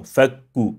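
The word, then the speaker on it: فَكُّ: the hams to it by saying fak, fak. No, fakku, unless we stop. If we stop, fak, yes. But if we link it, fakku, fakku, not fakku, fakku, fakku, no.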